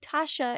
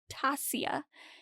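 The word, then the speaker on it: Tasya: is pronounced Vaughn and instead of Tasha it's Tasia anyway so Tasia has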